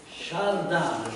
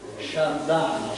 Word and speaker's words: Shardan: legge da lontano così shardan questa T col puntino sotto si legge D all'inglese the shardan sharden secondo gli scritti vi